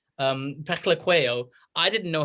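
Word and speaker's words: Phehlukwayo: But eventually I spoke to Wayne Parnell, South African player, and he told me it's Peklequeo. That's how you pronounce it, Peklequeo.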